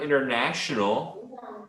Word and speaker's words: international: And with the word international, okay, there's an SH sound like sh.